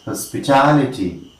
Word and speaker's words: hospitality: Primary stress is here. All right, and we say hospitality. Very easy to understand. We are just concluding it. This is, of course, the fifth rule of word stress. Words ending in ity, take the primary word stress on last Yeah, it is of course the third syllable from the end.